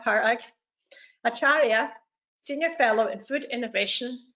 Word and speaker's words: Acharya: at the university of plymouth and dr parag bachara sorry i've said your name wrong perfect acharya senior fellow in food innovation at the national